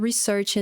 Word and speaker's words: resort: aqui né dessa também Resort também é uma palavra que causa bastante confusão na pronúncia né às vezes ela é confundida com a palavra resource E aí Resort ficou